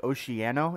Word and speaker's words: Oceano: It's called, I think, Oceano is how you pronounce it.